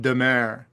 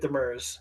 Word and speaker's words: Demers: I would pronounce last name Demer. And you would be correct. But being third generation American from Montreal, we're going with Demers.